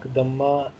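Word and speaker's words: ضمة: This U is pronounced like the vowel in pull. This mark, Dhamma, is called in Arabic, Dhamma.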